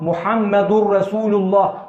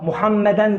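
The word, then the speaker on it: Muhammedur Rasulullah: dur la ilahe illallah muhammedurrasulullah Muhammeden değil Muhammed indi muhammedurrasulullah ikinci katı lafını bileceğiz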